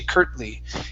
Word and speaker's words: curtly: with your stop T's, this is what we call a stop T. We don't pronounce it. We say curt. My tongue goes to the top and it stops. Mm-hmm. And then I pronounce the L. I say curtly.